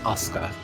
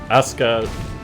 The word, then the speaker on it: Asuka: No, it's just Asuka. You could, it's pronounced like that.